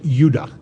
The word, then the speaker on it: Judah: were called Benjamin and Judah more properly pronounced anounced UDA because we didn't get the harder sound to the J until about 200 years ago so this is what